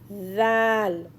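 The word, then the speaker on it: Dhal: Next is Zal. Zal. It sounds like DH in English. How to pronounce zal? Hold your tongue between upper teeth and bottom teeth and then say zal.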